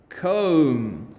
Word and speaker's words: comb: silent b and remember we are looking for the words with m b at the end of the word so thumb lamb womb comb tomb climb bomb limb